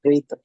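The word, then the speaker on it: प्रेत: And third is preta, but in Pali, in Buddhist language, they call it preta, but real pronunciation would be preta.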